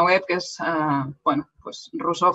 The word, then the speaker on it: Rosor: Tengo mi página web que es, bueno, pues Rousseau Foret, que es mi nombre, como se pronuncia aquí. Rousseau es un nombre catalán y Foret es un apellido francés, pero yo lo castellanizo.